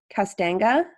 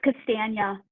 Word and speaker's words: Castagna: Associate Vice President Castanga. Here, it's Castagna. Castagna. Yeah.